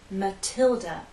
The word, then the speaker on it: Matilda: in stress watch this this name is Mathilda stress on the second syllable Matilda the T is stressed so we have a true T sound Matilda in this name